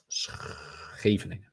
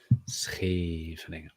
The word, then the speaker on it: Scheveningen: If you want to learn Dutch, better pronounce the and the Scheveningen. Scheveningen.